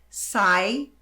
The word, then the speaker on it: site: A pronúncia em inglês é site. Ah, teacher, mas e essa letra E aqui? Não se preocupe com ela, tá?